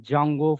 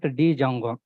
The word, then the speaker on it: Django: framework guys Django framework where D is silent guys that's why people are calling like Jango framework Jango framework not Django so as a student